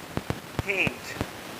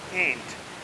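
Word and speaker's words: can't: American pronounce करते हैं, ये कंट्रैक्शन फॉर्म है कैन नॉट का, इसका केंट, अमेरिकन इसको प्रोनाउंस करते हैं केंट, जबकि ब्रिटिश इंग्लिश में इसको कांट प्रोनाउंस करते हैं।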